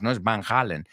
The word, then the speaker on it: Van Halen: So Happy Birthday to Alex Van Halen if vanen we say Van Halen in English number number two Don Rickles it rhymes with pickles and last but not least